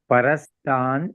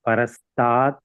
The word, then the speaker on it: Parastat: See, Parastan is the continuity for the word, but we are breaking it and it is a pause there. Therefore, it is Parastat. You have to pronounce. Okay, Parastan is not wrong. But there, if we are continuing in the prose form, Parastan you have to say. Otherwise, we are giving a break. Therefore, Parastat.